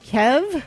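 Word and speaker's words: Kyhv: This person says, I believe it's pronounced Kev.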